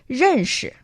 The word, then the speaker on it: 认识: That is 认识. Can you pronounce 认识 with me? Now, that's a little bit difficult. One more time, please. 认识. 认识. Perfect. So, 认 is the fourth tone thing.